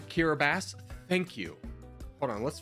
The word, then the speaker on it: Kiribati: end of the day it's said like kirab bass thank you hold on